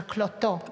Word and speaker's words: Klotho: So, we just heard a moment ago that Klotho is named after Klotho, this is how the Greek pronounce it, one of Zeus' true daughters, the goddess who spins the thread of life.